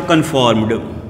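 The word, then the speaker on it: conformed: उसके बाद है कन्फॉर्म्ड, ड उच्चारण कीजिएगा, कन्फॉर्म्ड। लॉ साउंड आए ना तब आप साउंड निकालिएगा ड।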